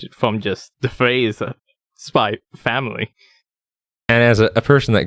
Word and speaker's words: Spy x Family: is byy family and I know you're not supposed to pronounce the X but I also think